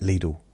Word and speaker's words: Lidl: Now the adverts say um spend a little at little. Don't spend a lot. Spend a little. See now they're rhyming the little. Realize that it rhymes with little.